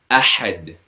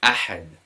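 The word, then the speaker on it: أحد: Ahad, we pronounce with a bit more emphasis. Ahad.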